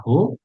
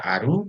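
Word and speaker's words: 歩: Ini cara baca onyominya ada hu ataupun bu. Untuk kunyominya dibaca aru, nanti ditambahkan huruf ku ataupun huruf ki mas, nanti menjadi aruku ataupun aruki mas.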